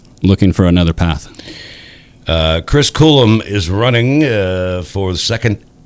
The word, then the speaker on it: Coulombe: And it's Coulombe, pronounced Coulombe.